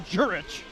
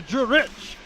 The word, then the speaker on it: Jurich: clear up the pronunciations it was aldworth to jurich not aldrich to drew rich as that one goes